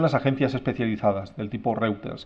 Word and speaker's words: Reuters: agencias especializadas del tipo Reuters, que conoceréis, o Reuters se pronuncia.